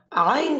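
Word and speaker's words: عين: জানিয়ে দিই আপনাদেরকে আইন কোথায় থেকে উচ্চারণ হয়। হলকের মধ্যখান থেকে আইন এবং হা উচ্চারণ হয়।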